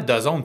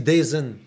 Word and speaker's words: DAZN: s'abonner à DAZN.